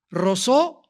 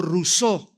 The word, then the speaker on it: Rousseau: Rousseau o Rousseau, como lo quieran pronunciar en francés.